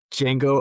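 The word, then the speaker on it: Django: The D is silent. Tyler, give me Jango Unchained for Oscar winner.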